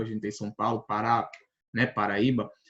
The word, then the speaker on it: Pará: Paulo Pará né Paraíba o Pará por exemplo é uma palavra oxítona por quê Porque como a gente tá vendo aqui ó o acento agudo ele tá vindo na última sílaba na última Então ela é considerada